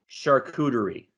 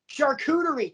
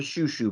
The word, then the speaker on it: charcuterie: Charcuterie. Charcuterie. Thank you. It's really not that difficult to pronounce, and yet everybody in my family drives me up a wall because they call it a shoo-shoo board.